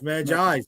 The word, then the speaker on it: Magi's: And it's pronounced Magi. I thought it was Magi's. Okay, so it's Magi's.